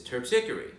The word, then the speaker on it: Terpsichore: name and he says terpsichore which is the correct way if you're speaking Greek which is what did